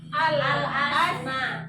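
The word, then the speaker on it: الأسماء: Tapi kalau kita memulai dari awal asmanya, itu hamzah wasalnya diberi harokat fathah. Fathah di mana? Atas. Di atas. Berarti bacanya kalau memulai asma tadi apa? Al-asma.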